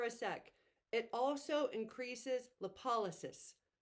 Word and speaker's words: lipolysis: sec it also increases lipolysis I went and looked up the pronunciation of that lip o l Ys i s lipolysis so you're truly breaking